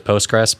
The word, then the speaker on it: Postgres: ago somebody wrote Somewhere it's post cql something I think it's usually referred to as postgress but it is like yeah postgress SQL is in the